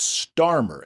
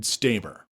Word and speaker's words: Starmer: A couple corrections in my last podcast, I mispronounced the British PM's last name. It's Starmer, s t a r m e r. I said Staver.